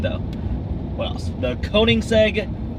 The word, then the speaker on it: Koenigsegg: The Koenigsegg Agera R.